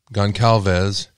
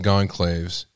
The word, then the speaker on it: Gonçalves: This is interesting to me because it's been reported that Kaylee Goncalves, or Goncalves, I've heard it pronounced either way. You'll see in a minute. But I think it's Goncalves.